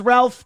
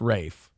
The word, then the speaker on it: Ralph: I always thought it was Ralph, too. Like the spelling was Ralph, but apparently I'm an How do you spell Fine's first name? Ralph, but pronounced Rafe, which is that's [